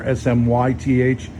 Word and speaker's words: Smyth: It's like Smith, but just put a Y there, SMYTH.